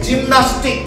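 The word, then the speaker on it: gymnastics: এখানে কিন্তু জি ওয়াই এম এন এ এস টি এস, জিমনাস্টিক, এখানে জি এর পরে ওয়াই আছে, তাই উচ্চারণটা হবে বর্গীয় জ।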